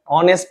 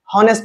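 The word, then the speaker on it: honest: পূর্বে বসে attention please বোর্ডের দিকে তাকাই দেখ অনেস্ট ম্যান এখানে ওয়ার্ডের শুরুতে এস আছে আমরা জানি এইচ এর উচ্চারণ হ এস এর উচ্চারণ কি হ কিন্তু এখানে হি অনেস্ট ম্যান বলব না ভুল এখানে উকে উচ্চারণ হচ্ছে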